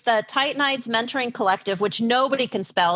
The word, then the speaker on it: Titanides: So it's the Titanides Mentoring Collective, which nobody can spell.